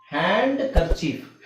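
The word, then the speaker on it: handkerchief: ಅಲ್ಲಿ ಇರುತ್ತೆ ಬಟ್ ಅದಲ್ಲದೆ ಕೆಲವು ಕಡೆ ಡಿ ಸೈಲೆಂಟ್ ಆಗುತ್ತೆ ಇಲ್ಲಿ ನೋಡಿ ಹ್ಯಾಂಡ್ ಕರ್ಚೀಫ್ ಹ್ಯಾಂಡ್ ಕರ್ಚೀಫ್ ಕರವಸ್ತ್ರ ಅಂತ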